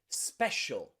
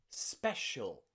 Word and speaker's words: special: C followed by many vowels is pronounced as a sh sound. Sh sound. Let's Special. practice those words again. Special. Special.